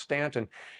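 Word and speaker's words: Staunton: n t n could be Stanton but it's pronounced Stanton and he was born at 20 couter Street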